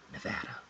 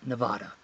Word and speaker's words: Nevada: thanks for watching and remember nevada nevada nevada not nevada nevada it's almost like rosebud rose but damn i